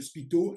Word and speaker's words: spiKto: Parce que c'est l'élément comme un ah oui, Lego qui permet de construire le langage Spicto. I speak to you, où on entend en phonétique la consonance de I speak to you en anglais.